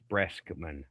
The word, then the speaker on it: Breskman: Did I spell Brexman right? I can't remember. Yeah. Well, you said Brexman like KS. You said KS. It's Breskman. Breskman.